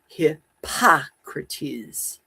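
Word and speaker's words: Hippocrates: Accent on the second syllable. second syllable. We'll do it again. Hypocrates.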